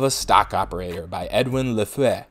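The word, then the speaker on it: Lefèvre: stock operator by Edwin Lafitte that's the proper French pronunciation and by the way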